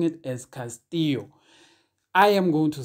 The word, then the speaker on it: Castillo: not say I'm like M said this he Castillo he is a Spanish speaking player and in Spanish a double I is pronounced as a y therefore the correct pronunciation of the surname should be Castillo not Castillo so we should be pronouncing it as Castillo